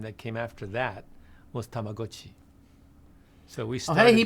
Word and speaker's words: Tamagotchi: By the way, the next keychain game that came after that was Tamagotchi. So we started hey, he pronounced it right.